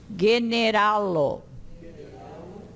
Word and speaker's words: generalo: O G, o go, diante do e e do i, é pronunciado da mesma forma como diante do a e do o e do u. Geologio. Generalo.